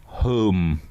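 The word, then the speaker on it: Holme: in Yorkshire which is spelled h o l m e but pronounced home yeah and on the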